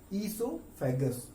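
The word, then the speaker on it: oesophagus: ईसोफेगस, शुरुआत में ओ है, प्रोनाउंसिएशन है ईसोफेगस।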